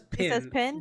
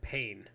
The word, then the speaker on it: Pin: pronounce it she's French she saysin she says pin yes however every commentator said pain I don't see an A in there I agree so know where she says it's pen then we'll go with what she says her last name is